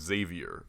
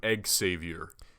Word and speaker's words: Xavier: don't think there's left it's supposed to be pronounced Xavier but people put eggs Saviour yeah it's because of